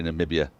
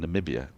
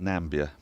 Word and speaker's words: Namibia: took place partly in Namibia. Spoke to some commentators who said great time in Vinduk. Really liked it. The capital of I say Namibia. Alex Hartley pronounces it Nambia to rhyme with Gambia.